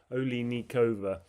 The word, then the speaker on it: Oliynykova: Olay is the initial syllable sound. Then Lee Nikova Oikova is a Ukrainian and